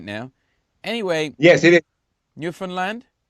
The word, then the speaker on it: Newfoundland: rage of the Canadians, because when I played Newfoundland, I don't even know whether I'm saying that right now. Anyway, yes, it is. Newfoundland?